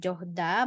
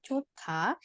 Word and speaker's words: 좋다: jadi bukan johda, bacanya tapi 좋다.